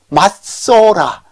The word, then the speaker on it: 맞소라: 본문이라고 부르는데, 각주 2에 보니까 마소라, 그러니까 이제 우리말 음력을 할 때는 마소라라고 안 하고 맞소라 라고 하는데, 이제 이 다게시를 이중으로 발음을 하다 보니까 마소라가 되는 것 같아요.